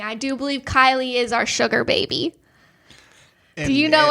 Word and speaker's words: Kylie: It looks like it's spelled Kaylee, but Chris Harrison pronounced it Kylie.